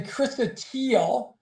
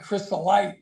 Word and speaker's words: chrysotile: It's actually chrysotile is the material that Mark was talking about. I will tell you, it's no big deal that he said crystallite, because it looks that way. It's easy to pronounce it that way.